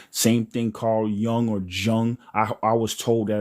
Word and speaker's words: Jung: Same thing Carl Young or Jung. I I was told that it was Carl Young and that J is pronounced like a Y, but whatever.